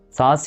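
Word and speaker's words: سانس: ساعات بقى بتيجي في نص الكلمة وبتتكتب نون وعليها نقطة عادي، بس بنبقى عارفين ان النون دي نون غنة بتتنطق كده ني، فاحنا بننطقها بالشكل ده.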